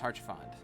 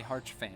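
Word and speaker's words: Haurchefant: boy harch fan and i know it's pronounced harsh fond i just wanted to say hearts fan because i was mad this is kind of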